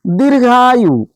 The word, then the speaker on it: दीर्घायु: दीर्घायु दीर्घायु द पे बड़ी ई की मात्रा है भैया। ये घ है। घ से घड़ी वाला। उड़ंतुआ र उड़ंतुआ र का उच्चारण यहां पे होता है।